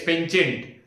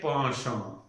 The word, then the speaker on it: penchant: Iska pronunciation generally mostly common pronunciation found in India is penchant. But iska actual pronunciation hai ponchon.